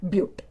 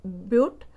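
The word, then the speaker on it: but-: of four carbon atom the spelling it is written as but but you have to pronounce it as butte so meth prop boot paint hex hept oct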